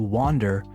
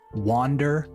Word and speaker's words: wander: Be careful not to confuse this verb to wander with to wonder as in I wonder where they are. Two different verbs with very similar pronunciation. Wander and wonder.